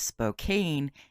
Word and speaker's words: Spokane: in Spokane Washington before anyone tells me I'm pronouncing it wrong and it is Spokane it is not it is Spokane so let's